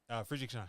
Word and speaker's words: Friedrichshain: Friedrichshain.